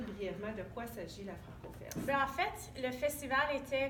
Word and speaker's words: FrancoFest: Est-ce que je le prononce comme il faut? Alors, à la FrancoFest, oui.